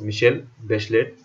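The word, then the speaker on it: Michelle Bachelet: That girl मिशेल बेचलेट, pronounce मिशेल बेचलेट, was elected president of चिले इन जनवरी 2006 में।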